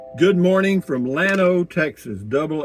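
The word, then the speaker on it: Llano: Good morning from Lano, Texas. Double L O Lo. In Spanish, it would be pronounced Yano.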